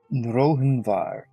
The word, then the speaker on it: Rohinvar: Rohinvar. Ah, you were wrong. Haha. It's easy to pronounce. It is just Raven Horn backwards.